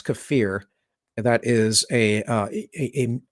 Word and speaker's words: kefir: or uh kefir if you guys pronounce that kefir you're pronouncing it wrong it's kefir and that is a a fermented milk drink